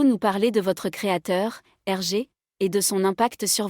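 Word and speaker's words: Hergé: l'a créé en utilisant ses initiales inversés g et R prononcé en français comme RG c'est une forme de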